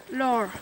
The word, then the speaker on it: Lore: Lore. Lore. Yeah, like Lura, but without the A. Yeah, it's an E instead. But you don't pronounce the e.